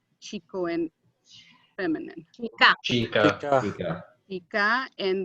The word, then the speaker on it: hay: are, both of them, is I, as in the I that we see with. Don't ever pronounce it hey. It's not hey, it's I.